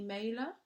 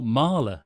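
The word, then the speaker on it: Mahler: or can you recommend any mailer m-a-h-l-e-r is that right Rebecca are you still on the call sorry can you spell it again a-h-l-e-r oh Marla yes sorry that's Gustaf Marla well Gustav Marlo is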